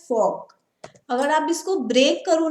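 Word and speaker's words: Volk: अब देखो ये मैंने भी प्रोनाउंस गलत किया, ये वॉल्गिस्ट नहीं है। जैसे हमारी फॉक्सवैगन कार आती है, लेकिन फॉक्सवैगन आपने नाम सुना है ना, वो स्टार्ट वी से होता है, लेकिन हम उसको प्रोनाउंस क्या करते हैं, फॉक।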